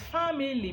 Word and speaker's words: family: or the pronunciation becomes, family. So when you hear family, it looks like there is family, but it is not family, it is family.